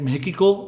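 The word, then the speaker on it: México: बट I would pronounce it like मेकिको because x is like her.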